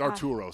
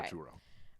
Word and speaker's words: Arturo: It's Arturo, sorry. I realized I mispronounced that. Okay. Arturo.